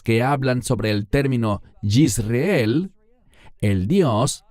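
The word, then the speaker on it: יזרעאל: Y el Señor le dijo, ponle por nombre, y este es un término muy importante, Yisreel. En español decimos Jezreel. ¿Por qué enfatizo su pronunciación en hebreo?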